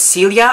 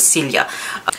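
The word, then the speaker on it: Silje: their new singer is Celia, I believe is how you say the name. It's almost like Sylvia, but Celia.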